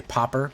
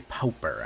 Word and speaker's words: Pauper: magic build I know some people say popper but I like to say Pauper I like to really pronounce that u in there um I have to